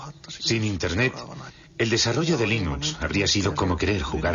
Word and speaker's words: Linux: es y cómo se pronuncia Linux Bueno yo Linux lo pronunció Linux sin embargo si fuese Linux no hay duda